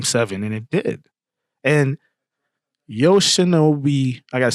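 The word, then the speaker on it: Yoshinobu: And Yosha Nobi, I got to say his name right. Yosha Nou Yamamoto.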